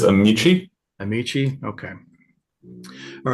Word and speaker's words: Amici: to pronounce this correctly is it amsi or is it a me how does the how does the applicant pronounce it Mr carpman help me out there so I'm not watching I believe it is amichi amichi okay all right